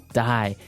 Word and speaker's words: dye: Dye. So, it's pronounced exactly the same way as, you know, to die, to not live anymore.